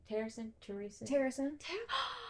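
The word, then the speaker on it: Terrasen: Terrason?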